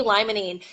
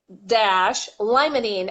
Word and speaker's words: limonene: for you D - limonene Li mo n like lime Mon e and and yeah it's